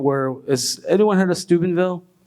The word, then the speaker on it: Steubenville: And so it was a moment where, has anyone heard of Steubenville? Not Stupidville. Everyone thinks it's Stupidville. No, Steuben.